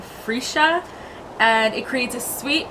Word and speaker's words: freesia: Moss and freesia freesia so I just googled how to pronounce it and apparently it's a free shot and it creates a